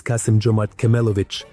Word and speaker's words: Kassym-Jomart Kemelevich: Let me remind you, his name is Kassym-Jomart Kemelevich.